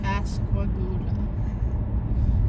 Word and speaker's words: Pascagoula: go to pass and Calvin Pascagoula so like goulash okay every time you